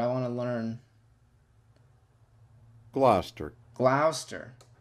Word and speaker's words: Gloucester: rang the bbc a few months later at gloucester's cathedral oh gosh oh man rochester if it's